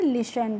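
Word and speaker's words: listen: टी ई एन तो पहले तो आपको देखना है यहां पे जो टी है यह हमारी क्या है बच्चों? साइलेंट है। यानी कि हमें टी का प्रोनाउंसिएशन नहीं करना है। इसीलिए हम इसको लिसन नहीं पढ़ेंगे। क्या पढ़ेंगे? लिसन पढ़ेंगे।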